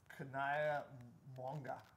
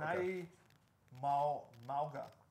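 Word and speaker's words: Kana'i Mauga: Your sleeper is Kanaya Mwanga. That one's I think it's Kanai. Yeah. Well, Kanai Mauga, according to USC's pronunciation guide.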